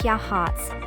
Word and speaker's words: Yachats: canyon are available as well number eight yatchets pronounced Yachats the small town of yatchets is situated at